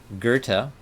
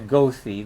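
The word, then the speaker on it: Goethe: mid 1700s and mid-1800s his name is spelt g-o-e-t-h-e and it's kind of funny to say that's actually kind of fun to say gerta and you'll be hearing it so why don't we all get used to it by repeating it together a few times goathy the way it's spelled but uh and the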